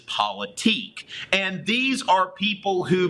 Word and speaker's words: politique: of a deal but the right way to pronounce this is politique and these are people